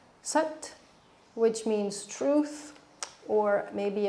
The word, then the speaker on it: Sat: The chant is Sat Chit Ekam Brahma. So breaking that down, Sat, S-A-T, sounds a little more like S-U-T, Sat, which means truth, or maybe a better description is universal truth.